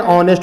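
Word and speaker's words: honest: यहाँ पर pronunciation vowel से शुरू हो रहा है, इसलिए एन लगेगा। एन ऑनेस्ट बॉय हो सकता है, उसमें भी बॉय रहना जरूरी है, केवल ऑनेस्ट रहेगा तो नहीं लगेगा।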